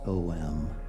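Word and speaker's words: ॐ: that beautiful sacred Sanskrit word om pronounced om.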